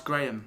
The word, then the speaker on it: Graham: I hope I've got a friend called Graham. some people call Graham watching because it's most decidedly in my pronunciation Graham, not Yes. Graham. Graham. Graham. Graham. All one vowel Yeah. when you do it, isn't it?